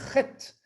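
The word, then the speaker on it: חית: Ensuite, on est arrivé à la lettre Chet, une Chet qui est une lettre gutturale. Ça doit se prononcer dans la gorge.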